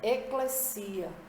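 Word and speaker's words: ekklesia: Quando o Antigo Testamento foi traduzido para o grego, A palavra congregação, que se referia a Israel, foi traduzida para eclesia. A pronúncia é esta, eclesia, ou igreja, que significa uma assembleia ou um grupo de pessoas chamadas para fora do mundo.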